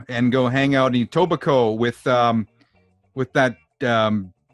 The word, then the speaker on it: Etobicoke: that place etobicoke yeah because it looks like that and i would say it like that if i wasn't from here too but it's a tobacco and you're not saying that like it's etobicoke just like you don't